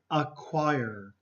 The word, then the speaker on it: acquire: pronounce them okay so here is a choir require okay the see there has no sound okay a choir acquired